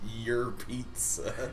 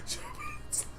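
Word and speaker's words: Jeritza: It's actually pronounced your pizza. It's actually pronounced Jaritza.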